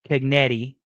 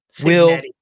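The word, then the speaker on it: Cignetti: rooting for Indiana I think that Kurt uh ketti I believe is how you say his last name Signet excuse me thank you cetti will pull the upset of the century and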